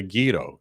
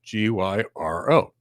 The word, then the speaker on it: gyro: up something called the Gyro, Gyro. It's a Greek thing. It's really great. But anyway, neither here nor there. We call it gyro because that's how they say it in Greece. Americans call it gyro.